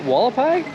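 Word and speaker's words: Hualapai: How do they pronounce it? Walapai.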